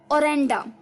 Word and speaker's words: orenda: ओरेंडा, ओरेंडा, ORENDA, ओरेंडा, ओरेंडा, ORENDA, ओरेंडा।